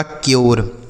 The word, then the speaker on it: cure: CURE, तो सी से हो गया आधा क, यू का उच्चारण यो, RE से र, यह लिखा आपका क्योर। समझ आ रहा है बच्चों?